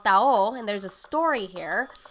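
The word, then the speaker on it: taho: So tao is spelled T-A-H-O, and it is a sweet soy-based breakfast.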